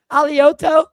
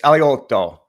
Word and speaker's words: Alioto: Alioto. Close enough. Aliotto. I soften the G. If you're in Italy, it's aloto. If you're in Boston, it's a it's aliota.